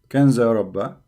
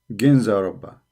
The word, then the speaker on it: Ginza Rabba: Here in Wikipedia they pronounce it as G. Ginza Rabba.